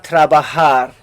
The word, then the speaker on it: trabaja: hot for example now this J right there makes an 8 sound megusta trabaja it pleases me to